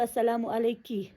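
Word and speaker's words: السلام عليكِ: اب اگر ایک فیمیل ہے تو السلام علیکی سنگولر کے لیے.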